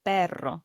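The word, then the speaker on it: perro: Pero, the word for dog. This is a spelled P E R R O. Notice how I roll the now.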